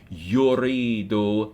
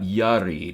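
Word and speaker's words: يريد: talk about right now, it takes dhamma in its first syllable, badalan min fatha, like most verbs. So it's not yarid, it's yurid.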